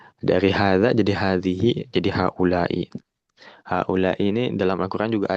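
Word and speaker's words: هَٰؤُلَاءِ: Dari hadza jadi hadhihi jadi haulai. Haulai ini dalam Al-Qur'an juga ada. Kalau dalam Al-Qur'an nanti haulai bacanya 5 harokat ya. Haula 5 harokat.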